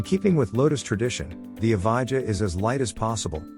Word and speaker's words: Evija: The Evo, pronounced Evija, sells for a cool